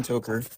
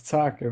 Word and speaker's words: Talker: Toer. It's Talker, but it's fine.